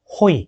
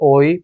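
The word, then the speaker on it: οἱ: So when you read it, 토테, 토테, 호이. 호이. 오이가 아니에요. 호이. It is not oi, but it is with the high pronunciation.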